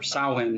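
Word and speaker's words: Samhain: and it's just about the festival of Samine or Sain as they as they pronounce it.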